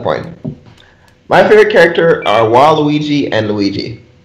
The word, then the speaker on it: Waluigi: My favorite character are Waluigi and Luigi. Not in that order. Luigi, then Daisy, then Waluigi. The most. Luigi. Waluigi. Luigi. What is wrong with you? It's Waluigi.